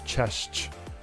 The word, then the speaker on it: cześć: it simple, it's just cześć, which sounds like you're saying chess, but with a ch at the end. So cześć, cześć.